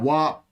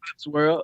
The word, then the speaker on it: WOPSWORLD: Because I'm looking at WAP. Everybody say something. I know do that to trick people up like me. So it's WOPSWORLD. It's WOPS World altogether.